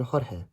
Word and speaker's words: Jorge: Of course, sometimes the letter J is pronounced ha, like in Jorge.